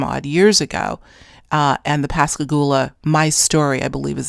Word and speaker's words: Pascagoula: book under his own publishing company about the Pascagoula. I think I'm pronouncing it right. Pascagoula, Mississippi, is where the extraordinary case of ET contactee Calvin Parker took place back in the 70s.